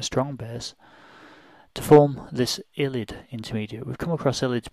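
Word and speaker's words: ylide: write that there actually, so illid is spelled illid with an E. Sometimes it's spelled without the E, but you'll probably come across it in your undergraduates with the E, so that can be missing sometimes as well in the how you write illid, but it's pronounced illid.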